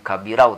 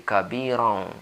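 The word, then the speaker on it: كبيرا: dengan tadi allahuakbar kabiro Bukan kabirau tapi kabirong Allohuakbar kabiro Juan hamdulillah yawloh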